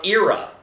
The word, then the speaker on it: Ira: Ira and Aced do not hate each other, or Ira, as the official pronunciation is now.